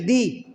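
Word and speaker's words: the: वहां पर दी बोलेंगे, टी एच ई, दी। और दा कब बोलेंगे, दी को दा तब बोलेंगे जब बॉवेल नहीं है, किसी वर्ड में बॉवेल जुड़ा नहीं है, उसको हम बॉवेल साउंड से उच्चारण नहीं कर रहे, प्रोनाउंस नहीं कर रहे हैं, तो हम क्या बोलेंगे, दा, ठीक है, तो उसी प्रकार क्या हो जाएगा।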